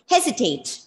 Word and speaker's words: hesitate: 28th word is, it's a commonly used word with the stress on the first syllable. And please tell me what do you mean by this word? Hesitate.